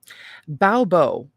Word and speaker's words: Baubo: Baobo, the belly goddess, which is spelled Baubo.